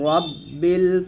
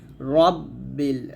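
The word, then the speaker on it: رَبِّ: বিসমিল্লাহির রাহমানির রাহিম আউজুবি রাব্বিল ফালাক ফালাক কফটা এখানে কলকলা কুল আউজুবি রব্বিল রাব্বিল বলবেন না রব্বিল ফালাক ফালাক এই কফটা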